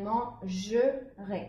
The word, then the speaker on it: mangerai: Mais ici, le R va partir avec la terminaison du futur pour former une syllabe. Et donc, on va séparer le E du R pour prononcer deux syllabes différentes. Man-je-rai. Et ici, c'était manger. Et là, ça devient mangerai, avec le E muet.